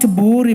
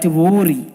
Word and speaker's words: Vihiga: Not Vihiga but Vihiga.